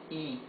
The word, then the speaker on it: y: So, when this is a word by itself, or when it is the last letter in a word, it is pronounced E.